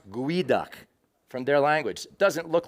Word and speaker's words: geoduck: say a crime a lot of people say geoduck which is exactly how it looks however it is pronounced GUI duck it comes from the nesquali tribe the lusso